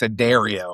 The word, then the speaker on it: Addario: Is it Addario, David? Am I pronouncing that correctly? Unless you're in the South, then it's Addario. Okay. All right. Addario.